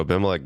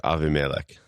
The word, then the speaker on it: Abimelech: And I'll just note, the pronunciation of that name is probably more like Avimelech. Yep, Avimelech. But I just was not confident enough as I started. Defaulted to the other way.